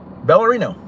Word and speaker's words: ballerino: break it up phonetically ballerino almost like ballerina but with a bell right I think I